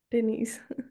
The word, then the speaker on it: Denise: Is it Denise as the pronunciation? Denise.